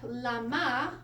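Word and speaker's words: למה: So, lama is how you say it in Hebrew.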